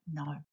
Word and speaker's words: know: when we know something K is a silent letter in no words that have silent